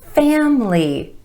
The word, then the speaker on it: family: number one family family I know that letter I in the middle there makes it look like it should be family but a native speaker gives this word two syllables family emphasis on the first syllable and the a vowel sound family my family I